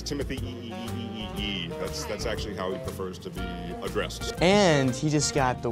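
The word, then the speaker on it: Timothée: you say his name there's actually several E's so it's Timothy and he just got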